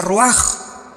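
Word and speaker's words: רוּחַ: Aquí se usa otra palabra hebrea que es se escribe roach con R de Raúl A. Se pronuncia roaj.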